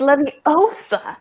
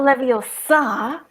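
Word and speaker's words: Leviosa: four three two one it's Lev OA not Lev OA all right that is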